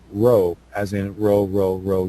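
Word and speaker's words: rho: me in Greek it uh represents the letter row as in row row row your boat mind it is pronounced with a rolling sound much like the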